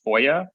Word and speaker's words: FOIA: Freedom of Information Act or foia is the acronym otherwise pronounced as foia um be used to